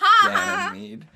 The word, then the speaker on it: Ganymede: Yes, it's Ganymede.